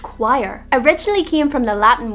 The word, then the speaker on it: quire: The next word, pronounced quire, originally came from the Latin word quaterni, and it was a term used in medieval printing.